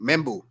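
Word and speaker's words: Membou: How you pronounce his name? Membu.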